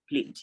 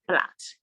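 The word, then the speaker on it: plait: is flat not plate p l a i t is not pronounced pleat is pronounced flat and then we have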